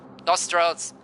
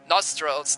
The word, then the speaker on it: nostrils: you pronounce those Thrills nostrils the O sounds wider nostrils nostrils nostrils nostrils nostrils